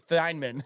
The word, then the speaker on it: Thienemann: It's just Thienemann. Are you sure? I thought it was Tiedemann. No, it's Thienemann.